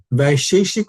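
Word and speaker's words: Vaisheshika: Vaisheshik Sutra?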